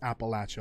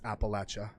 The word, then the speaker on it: Appalachia: Because it is pronounced Appalachia. Like Bethesda says it's Appalachia. Even though in real life the mountain range is called the Appalachians.